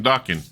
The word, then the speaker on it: Dokken: here okay we're talking docking here man we're rocking and talking docking rocking and talking docking that's what he said he said his last name is docuso it rhymes with rocking so I'm going to